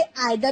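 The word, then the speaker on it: either: आप इसे आइदर भी प्रोनाउंस कर सकते हैं, ईदर भी प्रोनाउंस कर सकते हैं, उसमें कोई दिक्कत नहीं है।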